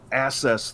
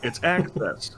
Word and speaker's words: access: I mean, you wouldn't say I need to access this computer. I might. No, it's access. When you have a double C, it's pronounced with the double consonant, like an X.